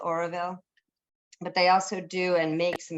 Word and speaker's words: Auroville: It's called Oroville, but they also do and make some beautiful things.